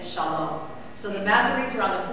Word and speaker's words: shalom: So instead of shalom, sholom, shulom, you know to say shalom.